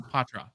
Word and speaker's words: Poitras: night because I watch lots of videos It's ptra okay of the Boston Bruins than Brock Faber